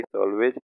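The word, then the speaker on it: salvage: Okay, अब हम आते हैं नेक्स्ट में, नेक्स्ट जो कि सॉल्वेज। तो सॉल्वेज का यदि हम प्रोनाउंसिएशन देखें, तो सॉल्वेज का साल्वेज होता है, और ये एक नाउन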